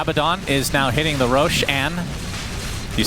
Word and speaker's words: Roshan: Abaddon is now hitting the Roshan. Do you say Roshan or Roshan? Is that Roxanne? That's right. Roshan is actually a word in Farsi, which is why I pronounce it Roshan.